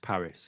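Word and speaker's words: PVRIS: P V R I S Paris. It is Paris, isn't it?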